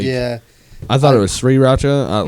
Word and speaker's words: sriracha: Is it pronounced sriracha? yes. Because it's I- there's a R like after the S. Like Yeah. I thought it was sriracha.